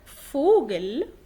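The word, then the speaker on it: Vogel: إذا جاء حرف الفاو في أول الكلام يلفظ ف، لكن في وسط أو آخر الكلام ينطق عادي زي الإنجليش اللي هو في.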